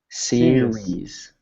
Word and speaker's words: series: like the second one series serious s so here think of it like this um SE sir re sir series kind of like a softer s yeah but there you